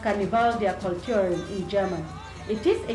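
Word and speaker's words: Karneval der Kulturen: some cultures characterize the bin Carnival of cultures pronounced Carnival their culturing in German it is a yearly Street Celebration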